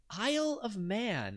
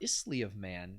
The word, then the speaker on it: Isle of Man: britain and northern ireland the correct answer is isle of man or isley of man if you want to mispronounce it 69 stop that manx that's pronounced